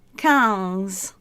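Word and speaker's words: quinze: French as I've said they say tears for 13 and 14 is cattles and 15 is cows and 16 is says but to put them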